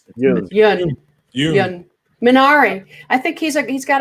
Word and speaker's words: Yeun: What about am I pronouncing his name correct? Stephen Yeun. Yun.